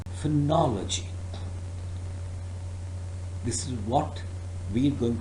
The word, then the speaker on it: phonology: using the sound or but they use the sound R and then after L instead of using the sound up they use the sound o that makes for knowledge G but the correct pronunciation of this word is phonology this is what we're